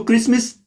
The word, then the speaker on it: Christmas: है आप देख ले लिख के क्राइस्ट मास या जिसको टी फिर साइलेंट आ जाता है जब हम कहते हैं क्रिसमस लेकिन जब लिखा जाता